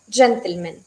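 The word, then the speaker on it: джентльмен: Como en inglés es bastante, como no cambia la forma, tenemos el acento a la primera sílaba, gentleman, ¿sí? Gentleman. Solo men es un poco más suave, quizá un poco, men, ¿sí?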